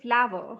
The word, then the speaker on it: flower: british english it is we don't even pronounce the second syllable it is just one syllable but in indian we say flower yes we do say